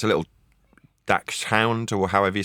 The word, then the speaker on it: dachshund: Dax Hound or something like I don't know how to pronounce it. It's German, I think. Yeah, Dutch hound is correct. You got it.